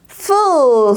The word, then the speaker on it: full: 풀이 아니라 full이라고 발음해 주셔야 돼요. 그대로 가볼게요. full 썼죠?